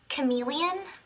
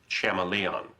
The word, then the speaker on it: chameleon: Um, Professor, uh, do you mean Chameleon? Betty, I'm pretty sure it's pronounced Shamaleon.